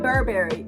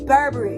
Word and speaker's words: Burberry: even pronounce like baby it's not burberry it's burberry it's not hermes it's hermes like baby so it's like